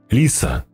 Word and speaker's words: Лиса: «Ой, извините, меня Лиса зовут. С ударением на «и», – уточнила она.